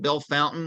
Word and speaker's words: Bellefontaine: Bellefontaine in Ohio yes that's pronounced Bell Fountain no matter what the french may say uh they ran one